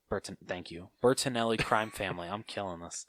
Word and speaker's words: Bertinelli: to the fortune of the bert bert-- elite Bertinelli burton thank you Bertinelli crime family I'm killing us once again I